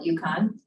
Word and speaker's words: UConn: Here at UConn, at the University of Connecticut, we call it UConn. And it's spelled UCONN. But if we were to